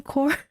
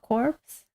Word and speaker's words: Corps: Corp Lotus wait really CRPS is not corpse feel like I've been lied let me open the light it's getting dark really I was happily pronounce Army corpse cuz that's what the word look like but I guess it's uh it doesn't sound good to pronounce corpse or Army is that why they decided to do army Corp okay legs do be